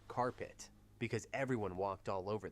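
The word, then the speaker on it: Card-Pitt: A team so bad they went 0 to 10 and were nicknamed card pit pronounced carpet because everyone walked all over them.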